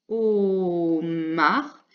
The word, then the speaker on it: homard: Correction, donc encore le H muet, puis un homard. Et là, il y avait également un D qui ne s'entend pas.